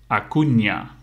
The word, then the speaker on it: Acuña: he's a Defender and you say it like this Marcos Acuna so you have to to combine the end with a with IG and you make like a yeah so Marcos you